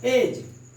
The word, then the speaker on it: edge: यानी हम डी का प्रोनाउंसिएशन नहीं बोलेंगे। एज, ब्रिज, ये डी जो है आपका गायब हो जा रहा है।